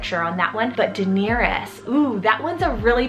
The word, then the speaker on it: Daenerys: gonna give you guys, which is the name Daenerys. It's spelled D-A-E-N-E-R-Y-S.